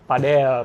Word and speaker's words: padel: Oh padel bacanya. Iya. Bacanya Pak Del. Oh iya iya iya. Sama kayak apa? Mirip nama tetangga gua. Iya iya Pad Pak Del. Dia dari Spanyol.